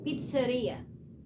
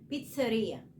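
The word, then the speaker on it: pizzeria: هي بيتزا اوكي طيب محل البيتزا عشان انا برض بسمع ده غلط بيتنطق غلط كتير محل البيتزا اسمه اسمه اسمه بيتزريا اوكي اللي هو متخصص في البيتزا بيتزريا طيب ده كان الفيديو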